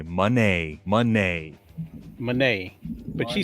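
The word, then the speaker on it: Moné: not saying Monae is everything no it's actually pronounced Monee it's just that idiots like what's his name Ian Rabani and Kevin Kelly that hermaphrodite pronounced it Monae and every other commentator decided to call it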